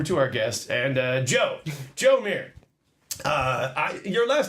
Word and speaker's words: Mier: Your last name is M-I-E-R. That's right. And I don't know, in America, we would say Meyer, I guess. Yeah, I got that a lot. The Mier is actually more of a Dutch pronunciation.